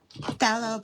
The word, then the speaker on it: Phthalo: Phthalo blue. How do you say PHTH? Fat. Phthalo blue.